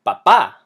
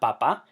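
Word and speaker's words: papá: in a vowel however the word has an emphasis on the last a not the second last one so we have to write the accent and it tells you how to say the word it's not Papa it's Papa the word this I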